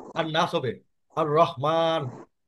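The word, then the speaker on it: الرحمن: আর রহমান, আল রহমান হবে না।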